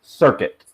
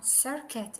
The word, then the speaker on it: circuit: you with that one so C is a hard one right sometimes C sounds like an sometimes it sounds like a K in this particular word the first second s and the second C is like a k so it's circuit ah circuit okay actually